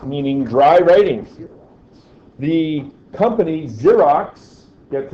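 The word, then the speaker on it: Xerox: dry writing the company zerox gets its name from the pro xerography and I don't know why it's pronounced with a z you'd think it would be an X but I don't know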